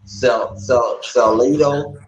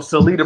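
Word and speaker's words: Salita: Like how you said, Salito. Is that where am I pronouncing that promotional name right? Salito. Oh, Salida Promotions.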